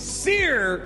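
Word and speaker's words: Cere: hands probably bigger news I learned how to say this name correctly so I said my polish pronunciation kind of kicked in there and boy did that really tick off a lot of people I am happy to announce the way to say this name is Seer June thank you thank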